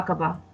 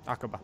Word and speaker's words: Aqaba: Yeah, Aqaba. Aqaba.